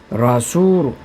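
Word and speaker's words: رَسُولُ: 라수룬 운발이 말이고 그냥 라수루우까지만 돼. N 사운드가 안 나옵니다. 뒤에 어떤 말이 오면은 라수루이 아니고 그냥 라수루 그래서 라수룰라 또 하나 예를 들면은 바이라면 집입니다.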